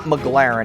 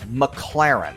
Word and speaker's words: McLaren: It's not McLaren, it's McLaren.